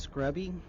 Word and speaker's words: Scrubby: It's actually just Scrubby.